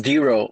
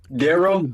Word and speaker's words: DeRo: we go uh yeah my name is d-ro on the stereo platform d-e-r-o i've been saying it wrong this whole time what have you been calling me daryl i thought it was